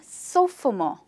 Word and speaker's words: sophomore: Yes, a sophomore. This word has three syllables, so for more.